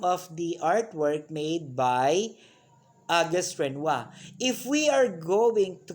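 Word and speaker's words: Auguste Renoir: have now august renoir okay that's how you pronounce it it's august renoir along with monet was one of the central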